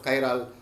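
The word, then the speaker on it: chiral: by means of presence of chyal or chal carbon atom you can pronounce in the two ways so they have an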